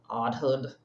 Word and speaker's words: AUDHD: How do you pronounce that out loud? Oddhood. Oddhood. Because I'm I'm odd. This is my odd hood.